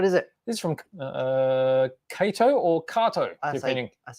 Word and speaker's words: Kato: I say Kato. You say Kato? Yeah, I'm Yeah. from the south side of the river and we say Kato. Right. Well, that's a Japanese pronunciation. So Kato it is.